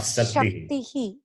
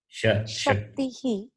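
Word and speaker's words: शक्तिः: Not Saktihi. Shaktihi.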